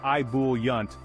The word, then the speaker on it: ebullient: a fancy term it's a score booster ebullient pronounced IB yunt means overflowing with enthusiasm or excitement picture a